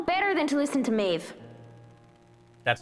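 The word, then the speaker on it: Meadhbh: You know better than to listen to Maeve. That's how you pronounce that?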